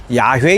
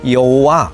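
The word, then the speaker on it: 야훼: 그랬는데 여호와는 하나님의 이름입니다 원래 히브리어 발음으로는 야외 인데 영어식 발음으로 하면 이오와 그럽니다 야외 하나님은 온 우주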